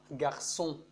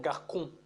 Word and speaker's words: garçon: Par exemple, comme garçon, garçon. C'est-à-dire, quand on supprime l'accent sédaï de C, on se prononce le mot garçon comme garcon, garcon.